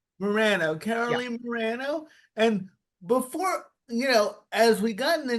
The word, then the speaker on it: Morano: how do you say your last name Morano Morano Caroline Morano and before you know as we